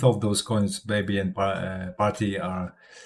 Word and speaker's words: Parti: It's party. Like party without the Y sound at the end. Kind of rhymes with hearty.